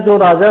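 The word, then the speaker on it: tsar: उसको ठीक है ना, जार के नाम से बोला जाता था। उसका टी और सी साइलेंट है, TZAR भी बोल सकते थे, CZAR।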